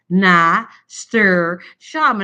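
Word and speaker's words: nasturtium: And I'm going I go I was not pronouncing right. So I think it was Misha and some another friend was like nastir sham.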